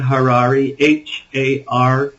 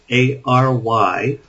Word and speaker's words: Harary: After They Came is my book, and my name is Harary, Harary, rhymes with Ferrari.